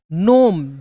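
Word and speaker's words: gnome: फिर उसी प्रकार जी एन ओ एम ई, तो जीनोम नहीं, जी और एन एक साथ है तो जी साइलेंट होगा, एन का नो, ओ का उच्चारण ओ के रूप में, एम का म। नोम, जीनोम नहीं, नोम। क्या पढ़ेंगे?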